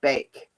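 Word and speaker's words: Baek: And the other person that helped a lot was Elise Beck. Now, it's Elise Beck, but it's spelled B-A-E-K because it's Korean.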